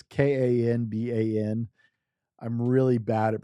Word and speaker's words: Kanban: The canban conban I probably pronounced that right wrong. I'm really it's kan ban.